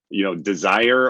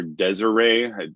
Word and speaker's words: DSIRE: great resource out there called Desire or Desiree. I've heard it pronounced both ways, that the North Carolina